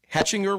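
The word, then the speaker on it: Hechinger: at this uh i think it's called the hatchinger report is that the correct way to pronounce it do you know correct okay yes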